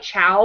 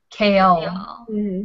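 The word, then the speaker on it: Chaol: And it's pronounced like chaos, but with an L. Kale.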